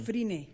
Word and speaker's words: Fryné: Pero es, ¿no?, una locura pensar, a ver, porque quiero pronunciar bien tu nombre, ¿es Friné o Friné? Friné. Friné. Así como se escribe.